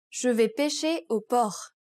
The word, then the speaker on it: Je vais pêcher au port: Take, for example, Je vais pêcher au port. Did you catch the silent letters in this sentence? Notice how Miley's did not pronounce the S and the T.